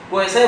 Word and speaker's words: quasi: हाँ, क्वासी भी कोई के साथ पढ़ते हैं, मान लीजिए एग्जैक्ट प्रोनाउंसिएशन हो है क्वासाई, QUASI, क्वासाई exact pronunciation क्वासाई। क्या मतलब हुआ?